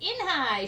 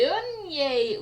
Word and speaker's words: Eunhye: Inhai!" shouted Ralph. Everyone tried to say it. "Yanahi! Eunhye!